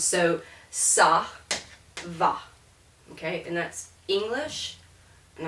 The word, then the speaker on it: ça va: But if I put a cedilla on the C, now it's going to be an S sound. And so this is pronounced ça va.